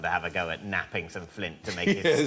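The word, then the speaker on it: knapping: no but you're right it begins with a silent k what we made early tools what do we make them out of Flint napping napping napping yes Flint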